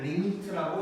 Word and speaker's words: lim: 얘기를 할 건데, 자, LIM이라고 쓸 거고 얘는 리미트라고 읽을 거야.